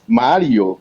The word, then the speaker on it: Mario: so my name is Mario see Mario okay so what the rolling of the r makes the difference it's pronounced differently what